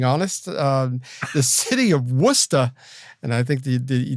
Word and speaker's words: Worcester: going to get lost that's for locals up in Massachusetts it's wora but if you you read it it's Worchester Shire or however there's as